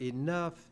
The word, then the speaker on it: enough: English is one of the most difficult languages to learn because that group of letters, O-U-G-H, in the word enough, it sounds like uff.